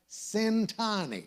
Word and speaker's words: Centanni: The guest tonight is Steve the Rev Centanni. If you're wondering how to pronounce his last name, the first syllable rhymes with the word sin.